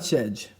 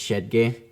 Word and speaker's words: Shedge: Because I have heard it pronounced both ways. It's not Shedge. Damn. We don't have we it wouldn't be d. It's shedgay. It's shedgay cuz headgeay is a very popular last name as well.